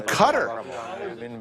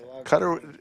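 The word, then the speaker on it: Qatar: have gave it away some people pronounce it differently but I believe the correct pronunciation is cutter than I learned that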